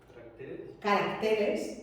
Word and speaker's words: caracteres: Caracteres. Caracteres. sigue siendo Diana, pero muevo la tilde, muevo la sílaba tónica, carácter, caracteres, ¿sí?